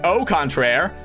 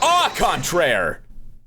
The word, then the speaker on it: au contraire: And by au contraire, I mean au contraire. Because that's how it's technically pronounced.